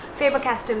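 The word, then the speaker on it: Faber-Castell: called dom as dorms and the second is faber caster so um this is not a sponsored video by the way i'm just doing it out of my interest faber castell is spelled as fabr hyphen c a s t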